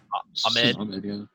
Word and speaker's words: Ahmed: How do you pronounce his last name? Is it Ahmed? Ahmed, yeah.